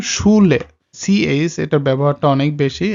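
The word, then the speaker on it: Schule: এটা sounds like SH, আর যেটা বাংলাতে হয় স, তালব্যস্বর মতো উচ্চারণটা হয়, যেমন শুলে।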